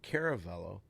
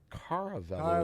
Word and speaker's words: Caravello: It's not Caravello. It's Caravello. as We learned last week. Yeah. Caravello or Caravello, it's how you Caravello, pronounce but it. C-A-R is in car. So it's a C-A-R is car.